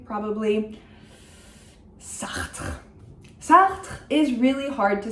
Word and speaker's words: Sartre: A lot of people say Sartre or Sartre or something like this. I don't know what to tell you. I think it's fine. He's also a very recognizable name. There's only so much you can do. If you can do the uvular R, go for it. Sartre.